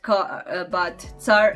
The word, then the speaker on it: car: written the same, but car actually means in Croatian emperor, and it is pronounced just like c, like a c in the cats, c, c.